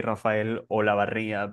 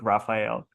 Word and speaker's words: Rafael Olavarria: So yeah, if you roll your R's, you can say Rafael Olavarria, but that's okay. I'm perfectly fine with Rafael.